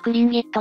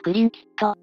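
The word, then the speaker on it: Tlingit: 先住民族だな正しい発音はクリンギットやクリンキット元はフリンキットと呼ばれていたそうだふむふむ先住民族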